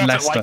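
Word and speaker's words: Leicester: like that is pronounced er yeah but it's pronounced Lester it's just wonder and we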